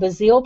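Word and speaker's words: Bazzill: Well, what I decided to do was to try, I took some regular, it's called Bazil paper, I believe, B-A-Z-Z-I-L. Who knows? I'm Cajun. That's the way we pronounce it.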